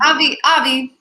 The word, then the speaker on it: AVVI: Am I saying that right, Eugenie? AVVI. Yeah. Okay. I always, because sometimes I say it wrong and I say it like the European way.